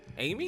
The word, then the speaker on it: Aymi: Amy? Amy, but it's spelled different. Yeah, Aymi. But it's Amy.